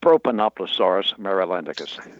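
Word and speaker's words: Propanoplosaurus marylandicus: And the pronunciation of your dinosaur, did I get that even close? Not quite. It's Propanoploaurus marylandicus.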